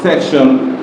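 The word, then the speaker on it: section: টি হয়ে গেল কি তালবস এটা সরের মত উচ্চারণ ইমোশন সেকশন S easy say টি আই ও এন স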